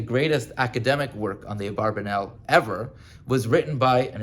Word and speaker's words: Abarbanel: published on the Abarbanel, titled Abarbanel. That's, if you ask an academic, that's how to pronounce the name.